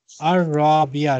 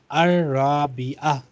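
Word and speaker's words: الرابعة: अवली अलूला, अलूला असानिया सलासा असानिया, असालिसा, असानिया Chalisa Arabia अर राबिया, रा के ऊपर शद्दा है तो लाम साइलेंट हो जाएगा, अर राबिया।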